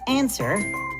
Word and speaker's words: answer: silent W, like in answer and rap. Again, these words are tricky. They don't follow the rules because we do not pronounce the W sound in either word.